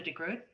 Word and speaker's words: de Groot: name i think because the g is very difficult for people not from the netherlands so yeah but it's a soft one the road so